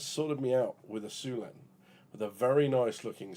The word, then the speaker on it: Syulen: So the Syulen, as I'm reliably informed, it is pronounced as like the like a Chinese name, right? Syulen.